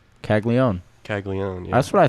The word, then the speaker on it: Caglianone: Yeah, The first N is silent. Caglione.